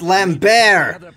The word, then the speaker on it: Lambert: magic in due time Lambert no that's pronounced lamb bear possible passages to the